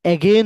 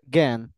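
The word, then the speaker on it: again: এগেন এগেন এগেন এগেন এটা এগেইন বলে না এটা এগেন এগেন এই সাউন্ডটা এটা আলাদা করে ফেলে গেন এগেন ঠিক তত ভাবে আমরা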